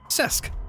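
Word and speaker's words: Cesc: I don't know how common it is, but how to pronounce C-E-S-C. A soft C sound similar to the S in sun, followed by a short E sound with an SK sound at the end. Sesk.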